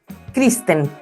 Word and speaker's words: Christen: junto a María Eliana, quiero decir bien tu apellido, Kristen. ¿Está bien o no? Perfecto, está Perfecto, perfecto. ya. Es medio difícil ahí cuando uno lo lee, pero la pronunciación no es tan compleja.